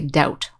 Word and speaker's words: doubt: doubt now notice that when you pronounce this word doubt the b is silent so we don't say doubt we just say doubt like there's no be